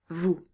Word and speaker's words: vous: Notice that the S at the end of nous, at the end of vous, at the end of il, at the end of elle is silent.